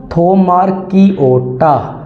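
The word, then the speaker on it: Thaumarchaeota: found in hot environment and थोमारकी ओटा कैसे pronounce करना है आपने दोबारा पढ़ें थोमारकी ओटा इनवॉल्वड इन नाइट्रोजन साइकिल डियर मिथेनोज जो मिथेन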